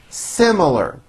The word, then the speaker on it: similar: made a special request similar has three syllables simar similar we have similar opinions